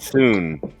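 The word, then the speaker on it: Sune: I pronounce it Soon.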